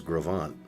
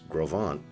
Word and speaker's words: Gros Ventre: I know the original name was Gravant.